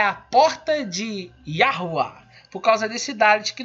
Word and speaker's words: Yahuá: Então, para mim, Yahu está errado, está faltando letra nele, tá bom? Essa é a minha opinião, tá? A pronúncia, na minha humilde opinião, é Yahuá, tá bom?